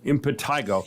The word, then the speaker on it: impetigo: Is that how it's pronounced? Impetentigo. Impetigo.